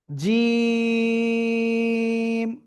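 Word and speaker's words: ج: শক্ত করে তিন আলিফ টেনে উচ্চারণ করব। কোন জায়গা থেকে উচ্চারিত হবে? জিহ্বার মধ্যখান তার বরাবর উপরের তালুর সঙ্গে লাগিয়ে এক দুই তিন আলিফ টেনে পড়বো আমরা শক্ত করে উচ্চারণ করতে হবে জিম ক্লিয়ার ওকে দেখি আপনারা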